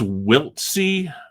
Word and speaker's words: Wiltse: Now, I think it's Wiltse. Hooks Wiltse is what Baseball Reference says, but I was looking up on the internet, and this name could also be pronounced Wiltse. But so I'll call him Wiltse.